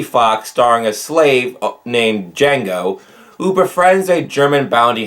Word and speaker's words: Django: The D is silent. If you remember that line, you might remember Quentin Tarantino's film Django Unchained. Now, this top list wouldn't